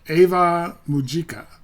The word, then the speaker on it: Ave Mujica: And I I keep I think I pronounced it four different ways in this video alone. It's Ava Mujika um with the songs Ultra Ego, Kill Kiss, and Symbol One Fire.